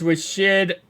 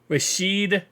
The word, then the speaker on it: Rashid: is Nixon for the Packers pun returner is Rashid rashed let me say his name correctly rashed Shahed miles got it for the special teamer